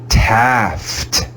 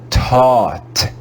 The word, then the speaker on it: taught: way we read laugh this word would be taft taft but that would be totally wrong this is another irregular word and we read it as taught taught here the a and u are read as ah in paul and the g and h are silent it's another wacky irregular